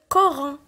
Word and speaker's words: Coran: Le mot suivant, on a O après le C. Donc, on va le prononcer K, Coran.